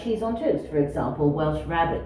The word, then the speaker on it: Welsh rarebit: Cheese on toast, for example, Welsh rabbit we call it, Welsh rarebit, pronounced such.